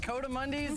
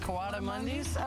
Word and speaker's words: coatimundi: Well, I say it Coatimundis, mm-hmm. but a lot of people pronounce it Coatimundis.